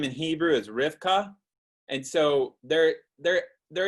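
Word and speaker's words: Rivka: the comments uh rebecca's name in hebrew is rifka and so there there there is a similarity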